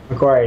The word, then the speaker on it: Macquarie: Is that how you say it? Macquarie, yep.